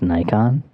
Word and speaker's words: Nikon: it's so basic Dustin um it's it's actually pronounced nikon i don't know if you knew that this